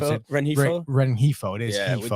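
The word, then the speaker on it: Rengifo: I was trying to pronounce it. Renhefo? Renhefo.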